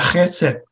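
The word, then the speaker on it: חסד: en el idioma hebreo en el Antiguo hebreo que se pronuncia gesell es una palabra que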